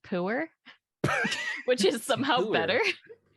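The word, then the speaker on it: Pu'er: I mean, I Puer? see flavors in here. Did I read that right? Puer? I have no So idea. technically it's pronounced pooer, which is somehow Pooer.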